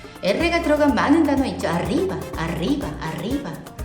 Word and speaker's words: arriba: 즉 혀가 이 입천장을 조금 대면서 진동을 통해서 바람과 진동입니다. 이 바람을 푹 내쉬셔야지 이렇게 되잖아요. 근데 치아가 닫히면 바람이 나오다가 탁 치아에 막혀요. 그래서 르 하다가 짧게 끝나는 거죠. 그러니까 르 이렇게 하시는데 그게 아니라 좀 발음을 이렇게 길게 내세요. 그러니까 바람을 길게 이렇게 내뱉으세요.